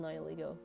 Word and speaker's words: Nihilego: I know now it's pronounced nihiligo because nihil is none, and then ego because it's supposed to foil Lusamine, who's very proud of herself, you know.